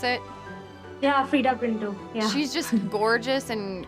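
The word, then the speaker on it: Freida Pinto: Is that the right way to pronounce it? Yeah, Frida Pinto.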